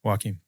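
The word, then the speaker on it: Joaquín: Yeah, but how do you pronounce it that way, the way it's spelt? Wakim. Joaquim, and it's the Joaquim. first letter is? Jay. There you go. At school, it was Ja. Starts with J.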